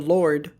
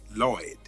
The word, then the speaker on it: Lloyd: So they believe that they've met the Lord. Actually, it's pronounced Lloyd. Sorry, I mean Lloyd.